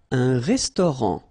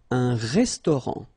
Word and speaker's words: restaurant: Un restaurant. Final T not pronounced. Un restaurant.